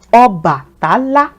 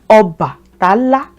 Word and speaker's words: Obatala: Lastly, let's do a 4-syllabled one. Obatala. Obatala. Obatala. Oba. There are 4 syllables there.